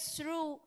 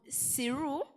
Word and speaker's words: through: them how HIV spread through one person to another so point of correction through the HIV needs Special Care and Service uh you said siru but the right pronunciation is through thank you yome in